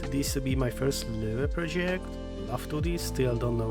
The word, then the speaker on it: Löve: It has an Ö, so it is an Ö for me, and that is all.